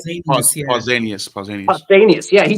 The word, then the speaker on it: Pausanias: Pausanias, if I'm saying it right. Pausanias, yeah.